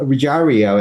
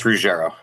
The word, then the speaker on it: Ruggiero: Reario, and please correct me if I'm mispronouncing your name. It's Rajaro. Sorry.